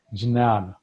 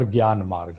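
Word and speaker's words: Jnana: i would rather say is jinan as we call it here it is spelled j n a n that is knowledge path of knowledge or gyan as we call it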